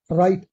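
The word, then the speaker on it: right: Wrong गलत राइट मैंने इससे पहले बताया था टी से पहले जी एच साइलेंट रहता है। इससे पहले वाले की इससे पहले की वीडियो देख लीजिए। राइट आर आई जी एच टी राइट सही।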